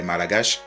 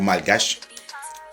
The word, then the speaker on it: malgache: hein parce qu'elle est malagache ou malgache dépendamment de comment vous vous le prononcez il y en a qui prononcent les deux l'homme africain est un